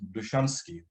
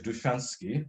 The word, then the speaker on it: Dushansky: a man called now he's referred to as nahman dushansky but it's more likely pronounced so I'll spell it in English duchansky d-u-s-h-a-n-sk s k y